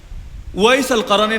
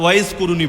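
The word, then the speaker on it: أويس القرني: ওয়াইস আল কারানির নাম তো সকলে শুনেছেন। আপনারা বাংলায় হয়তো ওয়াইস কুরুনি বলেন। ওই কুরুনি নামটা শুদ্ধ না। ওয়াইস আল কারান এই হল বিশুদ্ধ উচ্চারণ।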